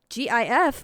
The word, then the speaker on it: GIF: word of the year the dictionary claimed at that time that gif may be pronounced with either a soft g or a hard g in april of 2013